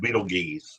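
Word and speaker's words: Betelgeuse: The only one we uh might be going soon is Beetlejuice. Beetleju. Beetle three. Which is that's in the the constellation of Orion. Yeah. Beetle. It's actually pronounced Beetle geese, but you know something I love.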